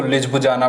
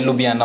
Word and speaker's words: Ljubljana: देखो इसकी स्पेलिंग बहुत अजीब सी होती है, LJUBLJANA, ठीक है। लोग इसको लिज्बुजाना पढ़ते हैं, ये लुबियाना होता है, ठीक है, इसकी प्रोनाउंसिएशन होती है लुबियाना।